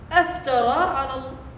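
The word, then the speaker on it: أفترى: If you say it with Hamzat al-qat', you are wondering, you're questioning. Aftara, that's how you say it. You say it with a surprise.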